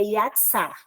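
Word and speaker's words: יצר: Mas se ela tiver a mesma raiz hebraica, no caso dessa palavra aqui, formar, a pronúncia dela em hebraico é yatsar.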